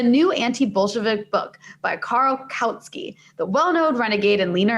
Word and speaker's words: Kautsky: Wait, tell me, is it pronounced Karl Kautsky? I never like actually said that name out loud. Kautsky.